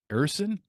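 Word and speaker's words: Ersson: you how do you say his name properly ersen ERS ersen okay well he's got a 10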